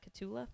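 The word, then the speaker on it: Cotulla: um they've got how do you say that catula catula okay I figured so I just didn't want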